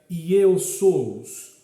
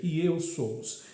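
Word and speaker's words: Ἰησοῦς: O nome Jesus é a forma grega que se pronuncia Iesous, ou seja, Iesous, que é o mesmo que Josué.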